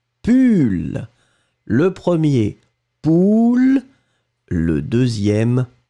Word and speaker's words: pull: Et le deuxième, on le prononce u, pull.